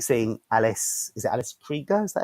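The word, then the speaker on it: Krige: Is it Alice Krieger? Is that how you pronounce her surname?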